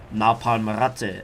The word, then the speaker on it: Napalmratte: But back to the question, the alias Napalm or Napalmratte, as it is actually pronounced.